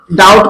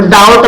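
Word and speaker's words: doubt: ठीक है, तो डाउट में बी जो है क्या है, साइलेंट. ठीक है, बी क्या है, साइलेंट. तो उसी प्रकार जो है house O यू बी टी, तो बी जो है साइलेंट वैल्यू होती है, मतलब बी को बोलते ही नहीं है.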